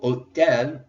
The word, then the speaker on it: hôtel: That is necessary because in French, the H is silent. It only exists to look pretty. That is its only purpose in the French language. It is just there to look good. So we don't pronounce it. We treat it like it's not there. So hôtel starts with a vowel, the O, instead of the H.